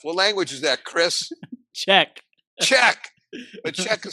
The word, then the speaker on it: Czech: Czech. Czech. But Czech is spelled C-Z-E-C-H because Petia, the wonderful woman in Chris's life, is from the Czech Republic.